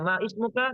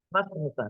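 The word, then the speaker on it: ما اسمك: Mas muka, bukan man ismuka. Kemudian bukan cara bacanya ma ismuka. Memang tulisannya begitu, tapi cara bacanya mas muka. Kenapa? Karena hamzatul wasl.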